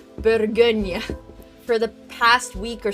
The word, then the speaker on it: Bourgogne: I've been learning how to pronounce Bourgogne for the past week or so, and I